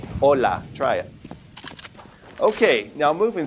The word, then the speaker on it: hola: We would simply say hola. We don't pronounce the H whatsoever. So, we just simply say hola.